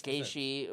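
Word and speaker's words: Gaethje: Wayne gasy oh no it's it's G it's gishi but it's spelled like it has like a th somewhere in there or something yeah it's kind of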